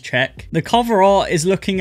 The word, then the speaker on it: Cheque: anyway it's called Czech I did originally pronounce it AIC but I Googled it and apparently pronounce it as check the cover art is